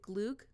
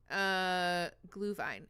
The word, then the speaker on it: Glühwein: How do you pronounce the Swedish one? Is it glug? Glug? Glühwein.